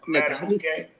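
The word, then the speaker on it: Madubuike: Matabuke.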